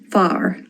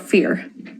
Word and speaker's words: fear: Far, not fear.